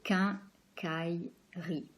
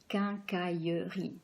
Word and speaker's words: quincaillerie: If you were in Marseille now, or in the south of France, you would say quincaillerie. So you would have 4 blocks, 4 syllables. Here, we're in Paris, so we tend to skip this E, the silent E that's here in the middle. And so we have more like 3 blocks, like 3 syllables. So we say quincaillerie, quincaillerie.